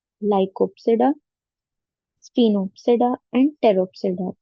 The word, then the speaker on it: Pteropsida: So there are divided into four classes: Psilopsida, Lycopsida, Sphenopsida, and Pteropsida. P is silent. So Psilopsida, Lycopsida, Sphenopsida, and Pteropsida.